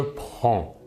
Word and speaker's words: prends: les trois premières personnes le S final des deux premières personnes ne se prononceront pas mais s'écrivent passons maintenant aux trois